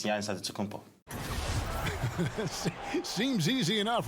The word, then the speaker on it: Antetokounmpo: the Nigerian way, you gotta say with a D. So it's Adetokounmpo. But in the Greek way, you say with the NT, like Antetokounmpo.